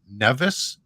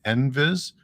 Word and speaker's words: NVIS: And I'm using the term, I'm calling it NVIS. I've heard some people call it Nevis, but I'm familiar with the pronunciation NVIS.